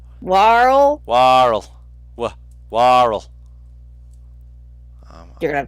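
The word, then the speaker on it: Waarl: It's Warl. Warl. Warl. Warl. You're gonna have to spell that for me, Don.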